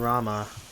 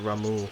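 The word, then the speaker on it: Ramuh: That's all used to calling him Rama, and yet it's that they pronounce it Ramu.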